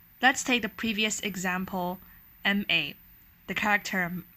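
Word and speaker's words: 骂: as a third tone ma it means horse but if you pronounce it as a fourth tone ma then it means a verb to curse to condem or to blame which is a very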